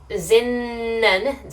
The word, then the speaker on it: zinnen: For zinnen, so with an N, zinnen, your tongue will be here, just behind your teeth.